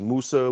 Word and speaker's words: Musa: Musa. Hmm. Yeah, we refer to him as Musa.